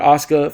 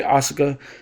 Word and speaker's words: Asuka: It's the same thing with Asuka. For some reason, a lot of people like to say Asuka when it's Asuka.